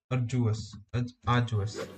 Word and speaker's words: arduous: Cinema syllable are Jews now you don't hear that D sound that much it's not very strong it almost sounds a little like a j arduous uh arduous and